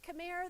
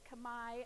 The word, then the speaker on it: Khmer: So Khmer, they actually pronounce it there Khmer. So when you see that, they say Khmer. I'm going to say Khmer just because that's what we're used to saying in the United States.